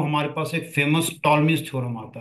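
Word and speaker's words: Ptolemy: हमारे पास एक famous टॉलस theorem आता है। P यहां पर साइलेंट है।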